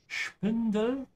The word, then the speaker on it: Spindel: Most of the time, whenever you have SP in German, it's a sh sound. So Spindel and Spindel.